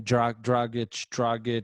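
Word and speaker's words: Dragić: And they have I never pronounced the name, Dragic.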